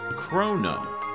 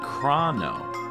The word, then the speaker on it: Chrono: Most people, including myself, have called it Chrono, but there are others who call it Crah-no.